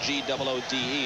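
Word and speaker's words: Goode: With Sutkowitz, Pierre Good. To about the 28. By the way, for those not familiar with the Alabama squad and seeing the spelling on the graphics, G-O-O-D-E, it is pronounced Good, not good.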